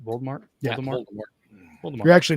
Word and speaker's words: Voldemort: Voldemort?